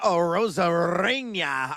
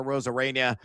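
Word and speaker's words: Arozarena: a big stick is Randy Rosaria. I'd like to roll the end. I know it's a Rosarena uh but uh little exclamation point on that pronunciation.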